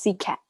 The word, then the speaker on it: CSET: heard of cset before so it's it's pronounced sea cat oh right big cat yeah i knew that and